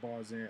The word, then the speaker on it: Barzan: I had no idea Yeah, that's what Barz in. I thought it was like Tarzan, but you have Barz.